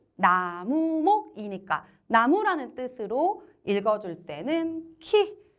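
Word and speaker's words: 木: 음독과 훈독 한번 확인해 보시는데 목구, 목구 소리 나는 대로 발음해서 한국어랑 일본어랑 비슷해요. 그죠? 목구, 나무라고 할 때는 키 되겠습니다.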